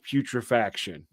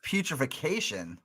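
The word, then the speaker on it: Putrefaction: I think Reek of putrifaction. Yes. penises on the cover like I thought it was reeks of putrification. No, putri.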